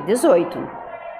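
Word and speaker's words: eighteen: Eles são os números com T e TIN, como, por exemplo, 80, que é 80, e 18, que é 18. Perceba como a primeira sílaba é tônica nos números com T, com final T.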